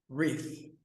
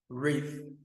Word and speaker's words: wreath: Wreath. Então tem essa pronúncia do TH que é super legal, olha. Wreath. Wreath.